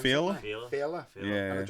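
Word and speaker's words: Féile: How do you pronounce Fela? it? Fela.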